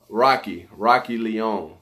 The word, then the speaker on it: Roshi: Now, depending on your rank, Roshi Leon says pronounced like Rocky. Oh, okay. Rocky Leon.